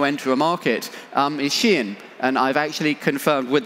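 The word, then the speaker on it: Shein: new channel to enter a market um is shin and I've actually confirmed with the company that's how you pronounce it um so we spent 15 years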